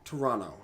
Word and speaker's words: Toronto: second like a Toronto doesn't really have a second tee when you pronounce it I said it yeah Toronto okay yeah Ottawa I